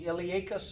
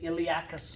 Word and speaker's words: iliacus: on either side here is called the iliacus muscle or some people say iliacus muscle there's a large piece